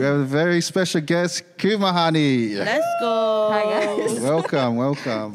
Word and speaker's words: Kumehani: get it wrong and they say Kumehanik because of the K at the end. But the K at the end is just for my last name. But yeah, so the way you say my name is Kumehani.